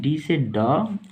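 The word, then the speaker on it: danced: लोग समझ गए होंगे डी ए एन सी डी से ड ए से आकार एन ऊपर सी से स डी से ड डान इ का उच्चारण नहीं होगा सी डांसड अब हम लोग इसकी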